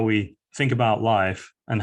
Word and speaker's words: Lyfe: the bottom right corner um our definition of life or Life as we pronounce it um was published a few years